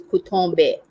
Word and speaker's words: Cotton Bay: for the picnic to a place called cotton bay and how they pronounce this is kutombe so we went to